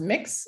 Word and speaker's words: Mx: point out though that mx pronounced mix is a gender-neutral version